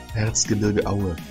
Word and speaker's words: Erzgebirge Aue: Erzgebirge Aue. That's how you say it. A football team. Erzgebirge. Taylor, yeah, you're right. You're on the right lines there. Erzgebirge Aue.